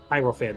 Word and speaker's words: hierophant: he gets the herant h i e r o p hierophant that's how you pronounce it the hierophant represents tradition